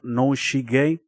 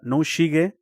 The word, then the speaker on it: Noshige: Japanese, I think it's pronounced noshige. Yeah, noshige. Yeah, makes sense.